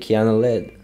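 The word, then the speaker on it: Kiana Ledé: But even better, honestly, is Kiki by Kiana Lede, I think that's the proper way to say it.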